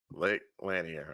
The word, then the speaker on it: Lake Lanier: there you have it Lake laner I believe that's how they were pronouncing it um oh yeah some